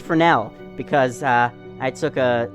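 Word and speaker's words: Fresnel: second Oro FR frel I know that that's pronounced Fel because uh I took a design class design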